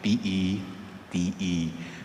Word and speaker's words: Pete: Kung gusto nyo pong panggandahin ang pangalan ko, tawagin nyo ako sa pangalang Pete. Hindi po P-I-T kung hindi P-E-T-E. Pero kung bigkasin ay Pete, huwag pong bigkasin sa Kapampangan.